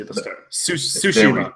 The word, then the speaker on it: Tsushima: Tsushima, but there's a silent T.